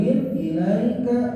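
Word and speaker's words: إليك: di sini ada harful ilaika lembut saja cara bacanya jangan sampai ke vokal E tapi ilaika ilaika tapi ke I Fala Yakun Fala Yakun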